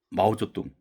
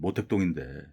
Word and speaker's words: 마오쩌둥: 이 마오쩌둥, 우리 한자 발음으로는 모택동인데 정말로 이 권력 천재예요.